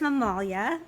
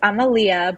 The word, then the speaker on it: Amalia: Is that how I pronounce her name? No. It's Amalia, but don't worry, nobody Amalia. ever knows how to say it. It's a very Greek, old school, traditional Greek name.